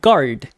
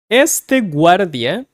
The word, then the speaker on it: guardia: You have to pronounce the U in Spanish.